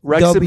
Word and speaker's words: Wrexham: last word you said wrexham like rexim is the name of